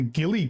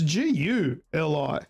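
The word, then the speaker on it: GuliKit: I watched a few reviews online. Everyone calls it the ghillie kit. Yeah, that's not how it's spelled. It's Guli.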